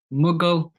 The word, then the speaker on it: Mughal: That's right. Mughal, like the Mughal Empire.